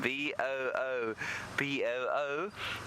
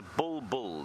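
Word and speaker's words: bulbul: b if it's spelled b o o b o o no it's not it's a bull bull not a boo boo b u l b u l bull bull there is a boo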